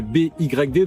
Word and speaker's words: BYD: On repose rapidement le contexte he mais BYD donc qui se prononce à l'anglaise PYD.